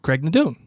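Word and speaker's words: Craigh na Dun: Craig Nadoon. It's not like Cocknammon Rock. Oh, it was Cocknammon Rock there. Yeah. we see that you're right. We do see him drive past Craig Nadoon eventually, and we see that motorcycle zip past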